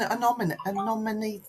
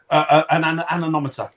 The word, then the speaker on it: anemometer: umbrella weather conditions how many people use an ominous oh God what they pronounce that for me Dan an anemometer yeah um data loggers does anyone use them